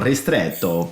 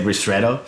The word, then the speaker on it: ristretto: Yeah, so technically you pronounce it, if you want to go Italian, you go ristretto, but otherwise we say ristretto, and it's much easier.